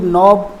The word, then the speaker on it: knob: और यहाँ पर कुछ बहुत ही महत्वपूर्ण शब्द हैं, जैसे KNOB, नॉब, नॉब माने मुठिया।